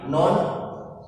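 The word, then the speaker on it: ن: Baiklah, sebelum kita masuk ke contoh, nah di sini Pak Wahyu sudah tuliskan huruf asli. Jadi huruf asli ini cara membacanya, ini bukan na tapi non, ini mem, ini ada sin, ini ada ya.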